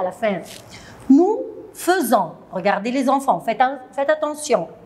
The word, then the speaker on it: faisons: Nous faisons. Regardez les enfants, faites attention. F-A-I, mais je prononce feu.